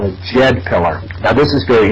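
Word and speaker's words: Djed: But she told me of this thing called the Jed pillar, and it's spelled D-J-E-D.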